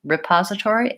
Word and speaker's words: repository: mostly will sound correct the most important thing is to stress the second syllable pause and have that be long and have your first cell will be syllable be short and unstressed the most correct way